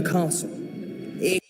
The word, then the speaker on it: castle: Did you know that the S is silent in this word?